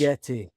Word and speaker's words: Ligeti: Ligeti.